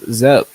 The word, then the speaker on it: Zep: It's Zep. Oh, Zeppy, like ZEP. Oh, Okay. ZEP. Yeah. Oh no, I'm saying that song with the she song. Yeah, that's Zep.